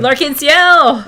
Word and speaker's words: L'Arc-en-Ciel: And do you know how to pronounce that? L'Arc-en-Ciel!